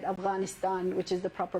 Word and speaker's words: Afghanistan: I think Biden tried to correct her when she said Afghanistan, which is the proper pronunciation, and he's like, Afghanistan?